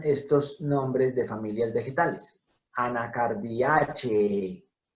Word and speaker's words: Anacardiaceae: Anacardiaceae. ¿Por qué Anacardiaceae? Termina en un diptongo E, antecedido por una E que forma la sílaba che. Entonces, en latín tiene que sonar absolutamente todo.